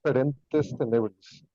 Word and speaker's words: Ferentes Tenebris: from the band called Ferentes Tenebris. Did I say that correct? Yeah, it's actually pronounced like Latin. It's Ferentes Tenebris, but yeah, I mean it's fine.